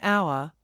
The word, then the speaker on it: hour: That's because the h is silent in those words, and the first sound is au. So we say an hour, an honor and an air.